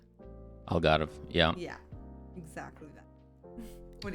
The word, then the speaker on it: Algarve: Algarve? Algarve, yeah.